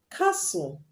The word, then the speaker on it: castle: Examples of when you have TEL at the end of the word and you do not pronounce the T is castle, whistle.